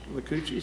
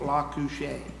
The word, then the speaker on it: Lacoochee: And that's when Dizzy Dean, when Mudcat was a pitcher, Dizzy Dean could not pronounce Lacoochee, so he had it La Couche.